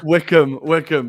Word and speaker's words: Wycombe: We've got, Rory, you pronounce it because I'm afraid of making a pronunciation mistake. Man City is versus the Wycombe Wanderers. No, the Wycombe Wanderers. Yeah, Wickham, but close enough.